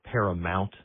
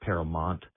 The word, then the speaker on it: Paramount: Also, Ovius, while we're correcting your pronunciations, it's the network is called Paramount, not Paramount.